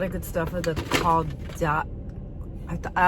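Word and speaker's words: Caudalie: And I had been hearing a lot of good stuff of the Caudal. I always thought it was Claudel, but it's the Caudali.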